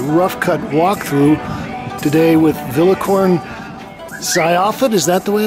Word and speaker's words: Vilaykorn Sayaphet: We're going to do a rough cut walkthrough today with Vilaykorn Sayaphet. Is that the way it's pronounced? Okay. Vilaykorn Sayaphet. Yep. Vilaykorn Sayaphet here at English Kills.